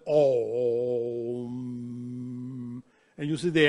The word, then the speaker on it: Om: This is a symbol written Aum, but you pronounce it Om.